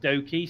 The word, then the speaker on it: Doki: I believe it's pronounced Doki, similar to obviously Loki Doki. Yeah.